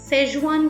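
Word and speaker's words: Sichuan: in my mind how is sejuan pronounced c and h are silent de came the answer how can two consecutive letters be silent i wondered well it just sounds better doesn't it fez one high recent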